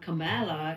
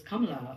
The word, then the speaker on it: Kamala: So we give them the confidence to stand up and tell the adult or their friends that, hey, my name is not Kamala, it is Kamala, or whichever way they